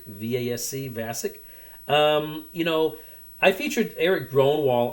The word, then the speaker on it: Vasc: the name of Dan, and I think I'm pronouncing it correctly, Vasc, V-A-S-C, Vasc.